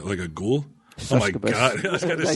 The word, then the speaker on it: succubus: She's a kind of like a succubus. Like a ghoul. Succubus. Oh my god! I was going to say that right. You said it right the first time, and then corrected yourself to the wrong way.